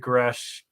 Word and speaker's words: Grusch: All right, so we did David Grush.